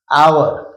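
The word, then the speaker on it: hour: घंटे से, फॉर एन आवर, फॉर एन आवर। इसका जो प्रोनाउंसिएशन है वो ओ का है, इसलिए इसके आगे एक की अंग्रेजी एन आएगी।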